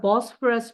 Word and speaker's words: Bosphorus: အဲ့တော့နောက်တစ်ခုက this is the picture of the Bosphorus Bridge. So how do you pronounce it?